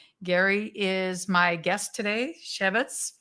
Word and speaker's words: Chefetz: Gary is my guest today, Chefetz. Am I saying it right? Close. Chefetz. Chefetz. Yeah. Now, Chef with an S.